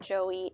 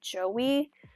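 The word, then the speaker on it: Aoife: to pronounce it wrong I've looked it up so many times and I think it's e but it's spelled a o i f e so it's like IO e I'm not sure but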